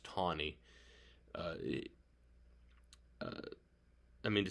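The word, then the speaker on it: Taney: man named roger tawny spelled t-a-n-e-y but pronounced tawny uh uh i mean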